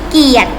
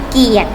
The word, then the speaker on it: เกียรติ: ถาม นะ คะ บัญญัติ ไว้ ต่อ ไป มี เกียรติ ค่ะ มี เกียรติ อัน นี้ จริง ๆ แล้ว กลัว รอ ก็